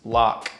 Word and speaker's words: LOC: rhymes with low, and LOC is pronounced lock.